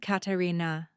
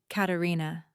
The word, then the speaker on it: Katarina: Not Katarina. Katarina. With the stress on the second syllable, the Monte Verde way.